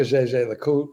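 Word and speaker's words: Jaeger-LeCoultre: I like the GG LeCoultre. I like the Breguet. I don't like the Zenith. Hey, But motherfucker, you don't know how to say it, man. Say it right, man. GG Le Coultre.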